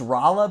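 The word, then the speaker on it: Rolla: um Iron Dale Missouri it's pronounced rala by the way I think I knew that thanks for the uh thanks for the pronunciation there I said Raa what like 20 times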